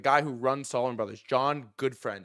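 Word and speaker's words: Gutfreund: who runs Solomon Brothers, John Goodfriend is how it's pronounced, I believe, where it's Black Monday and everything is just getting destroyed.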